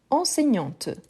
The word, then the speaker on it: enseignante: identique donc oui une enseignante donc la différence aussi des prononciation pourquoi parce qu'au masculin on s'arrête avant la dernière consonne au féminin on prononce bien le T pas le E hein parce qu'il n'y